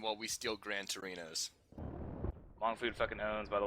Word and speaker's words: Hmong: Hmong food fucking owns, by the way. Or Mong, whatever. Sorry, I just know the H is silent.